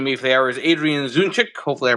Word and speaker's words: Adrian Zdunczyk: Joining me for the hour is Adrian Zdunczyk. Hopefully I pronounced that correctly, Adrian, who's got a lot